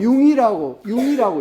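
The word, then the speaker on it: Jung: 근데 선생님 재미로 한 이야기고, 융이라고 읽어요. 융이라고.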